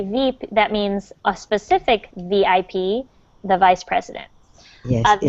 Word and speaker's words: VIP: said a veep but you actually should say a vip and say each letter individually and so vip do you know what that stands for and very important exactly so you have to pronounce vip because when you say veep that is that does mean something in english but veep means the vice president the vice president of